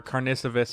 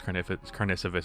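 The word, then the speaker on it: Karnišovas: And Carnicevus, I forgot, I think it's Carnicevus is how you pronounce it.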